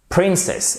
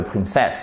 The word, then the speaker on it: princess: Donc ici, the hero slew the dragon and saved the princess. Et pas the princess, non, the princess. Attention, accent tonique. Sur la première syllabe, chers amis.